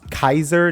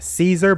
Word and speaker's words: Caesar: with him now telling Johnny his real name, which by the way, there's a note that is pronounced Kaiser, not Caesar, but I'm going just say Caesar because it's a reference to part two and the goat there.